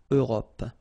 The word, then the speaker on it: Europe: L'Europe. Remember this final it's not really present. It only gives you the possibility to pronounce this P at the end, okay? Europe.